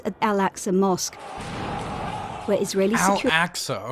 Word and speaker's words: Al-Aqsa: And then, on the last weekend of Ramadan, came clashes at Al-Aqsa Mosque, where Israeli Al-Aqsa, okay, that's how you pronounce it.